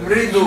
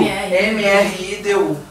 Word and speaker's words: mridu: Mridu. M-R-I-D-U.